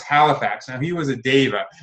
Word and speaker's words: Deva: Now, he was a Deva. I don't like to say diva. That might be the way you pronounce it.